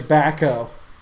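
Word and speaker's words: Bahco: In the tool itself, it actually says Baco, which is spelled B-A-H-C-O. So you can get these online and on Amazon as Baco tools, or you can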